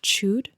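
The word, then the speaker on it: Chüd: is the ritual of, I think it's pronounced chud. Chewed. They pronounce it chud. I always pronounced it, reading it the first time in my head, as chud. Yeah, I see it and I hear chud in my head, which is a different thing.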